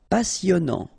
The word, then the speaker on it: passionnant: Okay, here you pronounce the double S because you've got a vowel, so it's really a strong one. Passionnant. Final T not pronounced. And then here you get this en sound, passionnant. Cher.